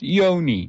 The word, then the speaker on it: yoni: They taught me it is pronounced yoni, just like you see it there.